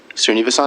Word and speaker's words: Srinivasan: that how you pronounce it? Srinivasan?